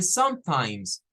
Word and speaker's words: sometimes: final eh curiosamente aquí la e verdad no suena la e no suena porque es la palabra Time en donde no suena la e pero la z se agrega por ser como plural es adverbio tiene esa